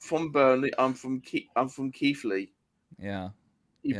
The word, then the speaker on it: Keighley: I'm from Keighley. Yeah. You Yeah, pronounce no.